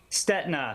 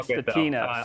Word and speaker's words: Stetina: Stetna, silent I. I keep saying Stetina.